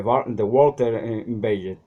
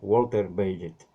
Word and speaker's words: Bagehot: Otro libro importante fue la Constitución inglesa, In the English Constitution, de Walter Bagehot, así dicen que se pronuncia, Walter Bagehot.